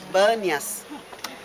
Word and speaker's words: Banias: Por isso que essa cidade chamava Pânias, mas como os árabes que vieram depois para cá, depois de Roma, não sabiam pronunciar o P, eles falavam B. Então de Pânias virou Banias.